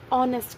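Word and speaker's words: honest: ऑनेस्ट एच से start हो रहा है जो कि कॉन्सोनेंट है, लेकिन हम इसको प्रोनाउंस ऑनेस्ट करते हैं। ऑनेस्ट ओ की प्रोनाउंसिएशन से स्टार्ट हो रहा है, इसीलिए हम इसके आगे ए एन यूज़ करेंगे।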